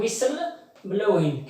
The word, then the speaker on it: whistle blowing: T is silent letter whistle blowing.